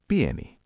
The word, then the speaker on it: pieni: Small is pi.